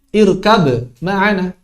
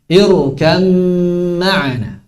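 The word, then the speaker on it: اركب معنا: Tidak boleh diucapkan irkab ma'ana. Nggak boleh. Kalah ba semuanya. Irkam ma'ana.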